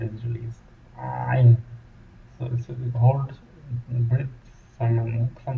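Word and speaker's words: عين: But when ain is pronounced, the restraint, a force, and the throat is restrained to squeeze and make the sound.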